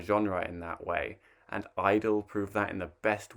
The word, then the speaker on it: (G)I-DLE: the year k-pop group idol or g-idle possibly i think most people seem to agree it's just pronounced idol are back with a